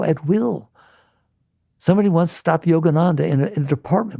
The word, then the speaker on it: Yogananda: to him, "Hey, Yogan- you know how to pronounce his name? Yogananda, can you do that samadhi stuff?